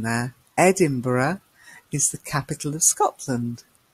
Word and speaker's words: Edinburgh: a country and Edinburgh did you spot the pronunciation there Edinburgh is the capital of Scotland and then we